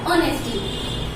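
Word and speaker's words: honesty: को जो दर्शाता है उन सब शब्द में आपका एक्स साइलेंट हो जाता है तो हम जब ये एक्स्ट्रा हो जाएगा तो हम एक शब्द को क्या कहेंगे ऑन नेक्स्ट टी यानी की एक्स साइलेंट होने से ये शब्द बन गया ऑनेस्टी अब ऑनेस्टी बोल रहे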